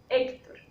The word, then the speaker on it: Héctor: Cuando hablamos de la palabra Héctor, decimos que tiene 2 sílabas y termina en R. Por ende, va a ser una palabra grave porque decimos Héctor.